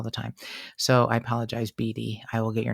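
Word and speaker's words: Bidi: to apologize to BD who I said her name was biddy and it's spelled b-i-d-i but it's German and it's Beady Beauty okay yes I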